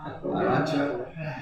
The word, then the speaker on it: Arunachala: Arunachala? Arunachala.